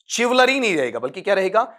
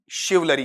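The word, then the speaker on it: chivalry: जब अपन कहेंगे तो इसका उच्चारण क्या रहेगा चिवल्री वलरी रहेगा शिव लरी जिसका ईमानदार विनम्र और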